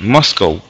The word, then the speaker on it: Moscow: Esa es la pronunciación, Moscow.